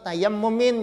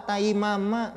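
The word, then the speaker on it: تَيَمُّمٍ: Wa tayammumin, itu bacanya ta ya mim mim itu tayammumin. Jangan pian baca wa taimama.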